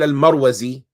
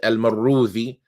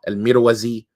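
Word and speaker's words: المروزي: Some of them say it with a kasra, Al-Mirwazi, right? But the best way that some of them say to pronounce it is with a fatha, Al-Marwazi.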